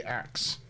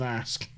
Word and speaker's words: ask: Especially in the south, generally with black people in the south, they say axe instead of, did you axe me? Rather than ask.